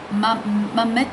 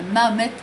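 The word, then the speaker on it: Mohed: l'objet d'un livre, mais on ne dit pas Mohamed, c'est Mamet, je ne suis pas sûre de la prononciation, j'en suis désolée, mais Mamet Altrad.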